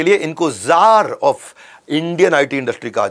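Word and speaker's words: czar: Russia के अंदर उनको जार बोला जाता है वैसे सी जार होता है लेकिन सी साइलेंट होता है ये इंडियन आईटी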